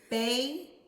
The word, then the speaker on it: bagel: This way, the vowel is open at the end of the first syllable. No letter shuts the door on it. So we read the vowels in open syllables as their long sound. So let's try it out. Bagel. Bagel. Good. So bagel. Good. So we know that whenever it is a open door syllable, it says the long vowel sound.